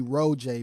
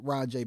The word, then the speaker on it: Rojay: it's because people kept people always call me Ro Jay because capital j a y which is pronounced rajay because of the capital J but I don't want